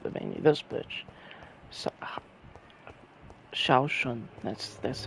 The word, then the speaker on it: Zhao Shun: So, Shaoshun, that's how you say it.